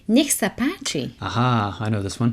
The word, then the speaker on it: nech sa páči: I have a way to remember this one as well. You might find this useful. Think of necks, as in more than one neck, and then the Native American warriors, Apache. Necks, Apache.